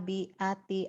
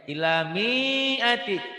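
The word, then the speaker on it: مِائَةِ: bacanya ilamiati dipanjangin. Itu kan bukan Mi'ati. pasangan, ini kasroh. Kasroh itu baru panjang Mi'ati. kalau ada ya mati. Ini ada alif, Iya, bukan Pak. pasangan. Ilamiati, jangan biati.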